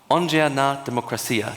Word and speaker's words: Ongea Na Demokrasia: Now we have to move on to Gabriel Karsan, whose startup is called Ongea Na Demokrasia. Did I pronounce that correctly?